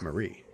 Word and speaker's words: Mary: Despite the spelling being Mary, she pronounces her name as Marie.